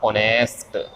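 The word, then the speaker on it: honest: तो ध्यान रखना इसका उच्चारण ये होता ऑनेस्ट मैन।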